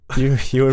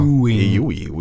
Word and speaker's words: Ewan: Ewan McGregor. I said, Okay. what did I say? Ewan? You gave him a couple more U's and E's. Well, you know, Ewy.